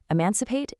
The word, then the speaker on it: emancipate: Look at these hidden relatives, emancipate and emancipation. Emancipate is pronounced e-mancipate.